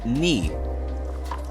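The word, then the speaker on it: 二: 2 is pronounced ni.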